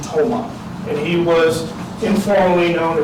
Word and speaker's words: Tomah: He immigrated into the Menominee tribe, and they pronounced his name Tomah.